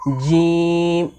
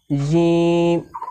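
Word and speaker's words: ج: জিম হরফকে জিহবার মাঝখান থেকে শক্ত করে পড়তে হয়। যেমন জিম জিম জিম তারপরে সিনশিন হরফকে জিহবার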